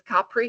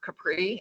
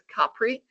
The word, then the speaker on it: Capri: Also, for those of us, and I think everybody is going to the Isle, and it's Capri, not Capri, it's Capri. First syllable, accent on the first syllable.